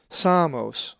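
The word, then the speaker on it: Σάμος: A Greek word that has the uppercase sigma is Samos, which is the name of the island of Samos, and is number 4544.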